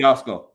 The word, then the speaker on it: Yatsko: Hollie Lynn, how do you pronounce her last name? HOLLIE YATSKO.